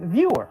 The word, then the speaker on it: Vyor: But you go by Vyor with a Y, not Vzor with a Z.